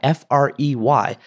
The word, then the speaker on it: Frey: book a million little pieces by James fry f r y but pronounced fry and I was like oh there's